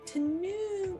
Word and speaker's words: Tanuma: Is that T apostrophe? I don't think so. Okay, Tanuma. I'm just gonna spell it. It is phonetic.